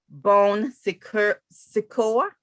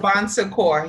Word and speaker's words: Bon Secours: Bowley was site leader and medical director for the Bone Secure medically supervised weight loss program. Did I mispronounce that? It's okay. Say it for us. Say it. Bon Secours.